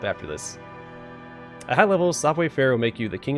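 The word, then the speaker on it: Savoir Faire: means you won't be shooting at all software fair but that's how it's pronounced acrobats thieves and bearable show-offs cyber fair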